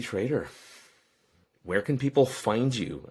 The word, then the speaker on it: Trader: Last name is Trader, like Trader Joe's.